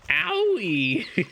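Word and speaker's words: Aoi: it her name is AOL last name online America online online with a double whammy say it like owie you may have just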